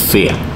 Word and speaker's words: Fe: and I mean it's it's a Swedish word it means fairy uh so we like to pronce it pronounce it the way we would normally do in Swedish speech which is fear uh but anyway it's